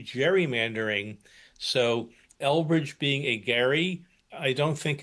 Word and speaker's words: Gerry: point to talk about the mistake in the pronunciation of the word gerrymander that Elbridge was a Gary not a Jerry and that uh American folklore and usage has simply changed it somehow to Jerry.